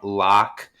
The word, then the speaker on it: Loch: It's going to be BM Lock, but Lock is spelled LOCH.